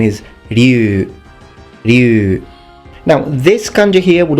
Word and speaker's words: Ryu: series now this name I've sometimes heard it mispronounced as Ryu other times mispronounced as Ryu but the actual name is Liu you now this country here would also be pronounced